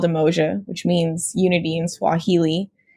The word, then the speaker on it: Umoja: Umoja?